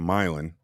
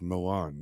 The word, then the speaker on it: Milan: just North of milin which is spelled Milan yeah call and you go oh are you from Mil like it's mil I'm like no it's Milan it's spelled exactly the same way Milan is spelled and there's a lake